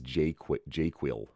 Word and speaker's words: JQL: You'll hear me say it as JQuil, because that's another way to pronounce that acronym.